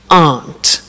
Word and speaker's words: aren't: they aren't cheap so the difficult here is the pronunciation of are not which is Aunt okay art good so